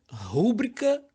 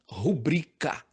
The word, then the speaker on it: rubrica: por incrível que pareça rúbrica não existe o certo é rubrica Tá certo e eu